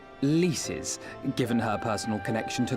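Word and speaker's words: Lyse: as expected as expected it's leas isn't it that's how that's pronounced leas the alliance's decision to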